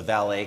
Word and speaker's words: Vale: touch on briefly is the valet case I think it's pronounced ballet but it's a Brazilian mining